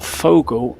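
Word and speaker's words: Vogel: And I think he's called the birdman because the straight translation of Vogle or Fogle as it's pronounced in German means bird.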